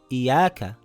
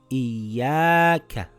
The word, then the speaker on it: إِيَّاكَ: - Great إِيَّاكَIyyaakaIyyaaka – its not iyaaka – its iyyaaka تَجَلَّىExamples with alif maqsurah